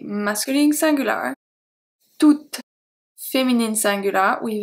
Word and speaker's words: toute: We have tout, T-O-U-T, masculine singular, toute, feminine singular, with E at the end. The last letter that I pronounce is the T, not the E.